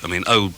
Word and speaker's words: oor: the Dutch magazine that's the Dutch word for ear. It's oor. Double O-R is how it's spelled.